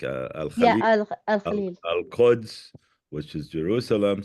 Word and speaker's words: Al Khalil: Al Al Khalil.